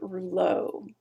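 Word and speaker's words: rouleau: I'm told are plural if you ditch that last X it's the singular which apparently is pronounced rule oh I think you can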